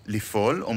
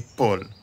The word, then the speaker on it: ליפול: swallowed into the Peh Instead of saying "Lifol" we say "Lipol" לנפול, ליפול - got it?